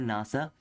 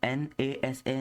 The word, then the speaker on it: NASA: Like जैसे कैट, डॉग, इस तरीके से हम प्रोनाउंस करते हैं वर्ड्स को। तो यहाँ पे भी हम, जैसे आप देख रहे हैं नासा, NASA, हम इसको NASA नहीं पढ़ेंगे बल्कि हम कहेंगे नासा।